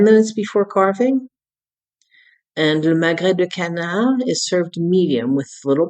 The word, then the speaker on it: magret de canard: Magret de canard.